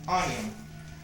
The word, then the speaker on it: onion: The same thing with onion. For example, onion is two syllables and it is stressed in the first syllable.